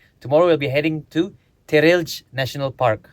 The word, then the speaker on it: Terelj: Tomorrow, we'll be heading to Terelj National Park. How you pronounce it again? Terrell.